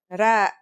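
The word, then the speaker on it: ر: Our first letter is Ra. Its closest English counterpart is the letter R, but it's a different sound that must be learned. Ra. It's not too hard to pronounce though, right?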